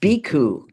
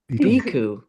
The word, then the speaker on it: Bhikkhu: so I'm happy to know how to pronounce Bhikhu. Bhikkhu. Iku. Bhikkhu.